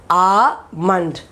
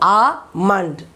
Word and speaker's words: almond: Okay, now here this is correct, but L is silent. You have to pronounce it as almond, not almond. No L sound. It is almond.